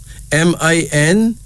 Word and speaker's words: Miniya: Then we have Miniya, Miniya, M-I-N-I-Y-A, pronounced Miniya.